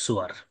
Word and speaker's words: سور: যেহেতু ফাওয়াতিহুস সুয়ার যেগুলো সেগুলো 29টা সূরার সূচনা, ভূমিকা, এজন্য এখানে ফাতিহার বহুবচন ফাওয়াতিহ নেওয়া হয়েছে। আর সুয়ার শব্দ, এটা অনেকে সুর পড়ে, আসলে উচ্চারণটা হবে সুয়ার, বহুবচন।